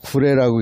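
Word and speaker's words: 呉: 그쪽이 이제 나중에는 결국은 구레라고 하는 한자로 오나라 할 때 오자를 쓰고 구레라고 읽는데, 그쪽에 이제 결국은 군사기지가 생기는 거야.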